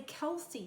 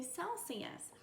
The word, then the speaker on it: Celsius: reminds my brain that this is the soft C sound we don't say Kelsey yes we say Celsius and then we'll look